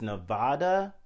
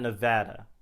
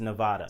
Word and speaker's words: Nevada: going to say it right now the correct pronunciation is nevada it's not nevada but i don't know i think sometimes i even say nevada myself but the correct pronunciation is nevada so something that's really cool like i said